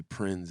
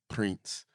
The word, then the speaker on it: Prins: I mean it's funny because some people say Prinze and some people say prints because I'm Panamanian so when I was growing